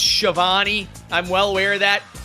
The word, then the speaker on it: Schiavone: And by the way, I know it's pronounced Shivani.